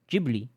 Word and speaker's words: Ghibli: Ghibli. Ghibli is how it's pronounced correctly.